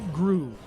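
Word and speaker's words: Gru: Yeah, it's it's it's grew, but it it's spelled G R U with an umlout at the at the top.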